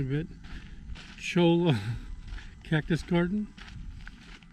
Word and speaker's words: Cholla: We're not sure if we know how to pronounce it correctly, but Cholla Cactus Garden. Cholla.